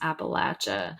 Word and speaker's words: Appalachia: I can't remember how the correct pronunciation according to your dad it is Appalachia but you know what